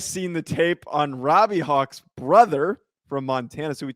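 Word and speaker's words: Hauck: the tape on robbie hawk's brother from montana so we talked about robbie hawk he misspelled it but robbie hawk's little brother maybe we're mispronouncing hawk it's h-a-u-c-k i think it's hawk robbie hawk's little brother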